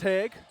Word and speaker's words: Heg: I've been saying her name. Ellie Jane Hog for the longest time. So say it right. It's Heg off the light.